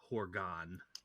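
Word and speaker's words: Horga'hn: getting ready for the herogan hunt arroga bro gan yeah it's actually pronounced Horgan fine Oregon but the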